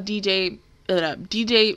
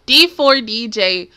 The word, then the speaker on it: D4DJ: towards episode one of dj dj nope i'm saying it wrong am i saying it no d4 dj first mix if you